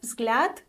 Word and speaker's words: взгляд: be optimistic today and note that there is only one vowel in this word which makes it easier to know where the stress is right so the word Vlad can mean a look